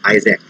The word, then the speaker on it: IASC: astronomical search collaboration iasp which is pronounced as isaac and yes this was